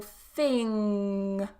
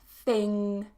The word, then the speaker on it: thing: a one syllable word for example thing I would still need to pronounce that mmm sound back here I can't say thin because then I'm saying another word I'm saying thin as in the opposite of fat let's say okay thin thin so a different word thing thing has to be pronounced at the back so if it's a